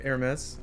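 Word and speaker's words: Hermès: The brand is pronounced like Hermes. It's a French brand. You don't pronounce the H.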